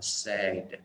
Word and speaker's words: said: Tương tự với cái dạng quá khứ của từ say đọc là said, nó cũng là âm e luôn, nó không phải là said mà nó đọc là said.